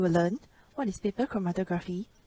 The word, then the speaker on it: chromatography: seeing chromatography in action here's how to pronounce chromatography pro ma toh chromatography originally developed by Russian